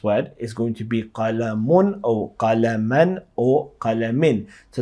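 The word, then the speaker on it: قلم: Okay, the word qalam, you know that the qaf has a fatha and the lam has a fatha, and then there's the meme, and that word means pen.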